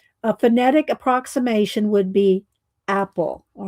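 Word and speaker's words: AEPOL: Apple. It's pronounced Apple.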